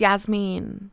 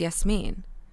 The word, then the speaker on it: Yasmin: I was introducing myself when I was younger going to school in America I would always say my name is Yasmin my name is Yasmin when really it's yes me but I felt so